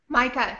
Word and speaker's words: Micah: think I'm assuming that her name is pronounced Micah. Micah, yes. Yes, okay, which is also my son's name, so that's pretty good.